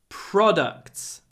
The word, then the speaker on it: products: are our best products the stress is on the first syllable not like produ in Russian products so it's produce production but products and there's another word